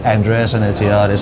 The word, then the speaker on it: Andreas Enotiadis: please absolutely uh so for those of you that don't want to pronounce my name it's Andreas Andis and from the sound of it is Greek actually uh-huh which is